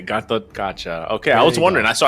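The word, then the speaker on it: Gatotkaca: time I MLB honestly I just say gatot katcha ah okay gatot katcha okay I was wondering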